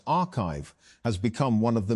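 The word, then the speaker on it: arXiv: Although papers are posted to the site before they are peer-reviewed, ORIV pronounced archive has become one of the main ways that research circulates in fields like computer science and math.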